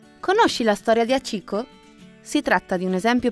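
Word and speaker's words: 八: al kanji che rappresenta il numero 8, che in giapponese si pronuncia Hachi.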